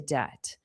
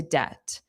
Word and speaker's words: debt: So, these medical bills really put us into debt. Into debt. And hopefully you've learned from my pronunciation that debt, the B is silent.